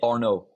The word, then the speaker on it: Arnaud: Just say Arnaud. No D at the end.